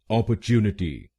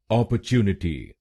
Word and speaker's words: opportunity: British pronunciation में इसको बोलेंगे अपॉर्चुनिटी। अपॉर्चुनिटी। इस शब्द में 5 शब्दांश हैं।